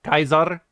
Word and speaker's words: Caesar: so like you know Caesar is Kaiser um PR caps is